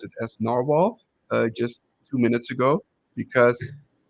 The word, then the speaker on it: Nahvalur: narwhal I just learned that I have to pronounce it as narwhal just two minutes ago because I always pronounce